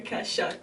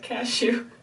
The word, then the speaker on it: Kashuk: Sonia Kashuk, not cashew. I say cashew. You sound like cashew. I almost laughed. Did I say cashew or cashew? Kasha or something is Kashuk.